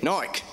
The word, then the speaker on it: Nike: My first point comes from Nike, or as the Brits say, Nike.